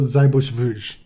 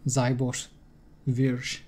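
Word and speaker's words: Seyboth Wild: I think those are like German names, but pronounced through Brazilian Portuguese.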